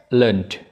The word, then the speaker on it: learned: Tapi yang ed di sini learn jadinya learned. Bunyinya jadi d.